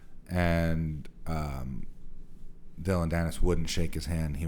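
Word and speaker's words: Dillon Danis: the was it D Dylan danis how do you say his name oh Dylan danis is that it yeah he just he got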